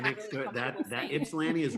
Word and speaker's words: Ypsilanti: When you said penis statues, I thought of the water tower in Ypsilanti, Michigan.